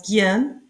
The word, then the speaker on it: gehen: Ici, gehen, le H est muet, gehen, aller, go, or, oreille, ear. Le H est muet en or, oreille. C'est-à-dire le ha est muet en le mot gehen. On prononce gehen.